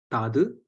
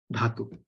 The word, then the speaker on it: dhatu: Same way, consider the word dhatu, right? In Tamil, usually it becomes tadu. It basically changes pronunciation because we don't have the tradition of like marking which is the and which is the. But in Grantha, you can write it properly as dhatu, right?